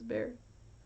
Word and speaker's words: Bexar: It's Bear. You know it's Bear, right? The X is silent.